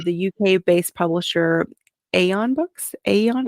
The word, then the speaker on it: Aeon: Aeon, how do you say that? Yes, Aeon.